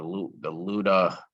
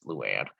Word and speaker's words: Luan: The Luda, he got the name wrong. It's Luann.